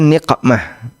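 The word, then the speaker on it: نقمة: Tulisannya mirip, bacanya juga mirip. Dan hati-hati kalau salah baca. Allahumma inna nas'aluka niqmatak. Ya Allah, aku memohon azabmu. Ini kalau dibaca nikmah dia baca qof. Ada nikmah, ada niqmah.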